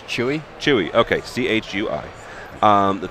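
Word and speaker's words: Chui: cedia first of all do me a favor pronounce the name of your company it's chewy chewy okay c-h-u-i um the thing that's interesting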